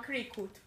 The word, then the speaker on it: Cricut: llama Cricut. Cricut. ¿Cómo Cricut. se escribe?